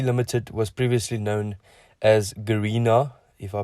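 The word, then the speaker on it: Garena: limited so c limited was previously known as garina if i pronounce it correctly and it was founded in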